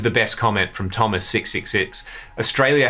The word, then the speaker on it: Australia: Australia has 3 A's, all pronounced differently. I read that and it blew my mind. So yes, that is correct. Australia.